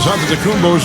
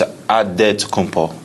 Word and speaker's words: Antetokounmpo: the spelling of Giannis Antetokounmpo's last name. He helped set the record straight of how you pronounce it. The Nigerian way, you gotta say with a D, so it's Antetokounmpo.